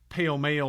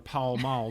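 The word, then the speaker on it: Pall Mall: an avid smoker uh pale male or paul mall depending on how you pronounce it non-filter but he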